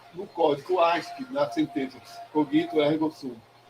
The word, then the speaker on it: cogito: Ele pegou a sentença de Descartes, cogito, a pronúncia correta em latim é cogito ergo sum, penso, logo existo.